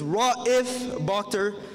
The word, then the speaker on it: Raif Bakhtor: Over the last 4 years, I've heard every pronunciation of my name, except the right one. So, good afternoon, everyone. My name is Raif Bakhtor.